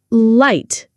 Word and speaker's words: light: Light and write. Can you hear the difference? Light. Tongue touching, right tongue not touching.